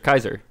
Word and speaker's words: Caesar: emperor julius caser caser kaiser that was actually actually how it was pronounced caesar or kaiser kaiser yeah kaiser yeah